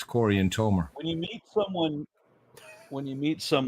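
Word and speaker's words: Corianton: one of the names Cory aner is probably our two people it's Corey and toer when you meet someone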